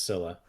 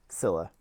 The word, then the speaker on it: Scylla: you want, but I believe it's Scylla. Scylla.